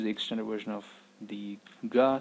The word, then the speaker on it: ഗ: The next one is pretty popular, it's Ga. Ga is very similar to how you pronounce gaze or gap.